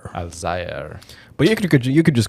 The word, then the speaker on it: Alzayer: Alzayer? Alzayer.